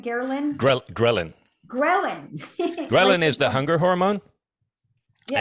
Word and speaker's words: ghrelin: gonna get you to pronounce help me with pronunciation what is Garland g-h-e-r-l-i-n did I say that right Garland ghrelin is the hunger hormone yeah and it's the